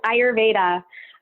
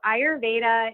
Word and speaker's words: Ayurveda: that is and and also how to properly pronounce it yes ayurveda so ayurveda is commonly known as India's holistic medical system